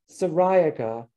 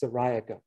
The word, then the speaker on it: syriaca: i or you depending ceriaca is how i say the uh specific epithet for um common milkweed asclepius sariaka or you could say syriaca if you wanted to